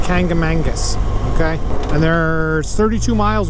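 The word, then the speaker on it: Kancamagus: Some people say Kangamanicus. That's not the way you pronounce it. It's Kangamangus, okay?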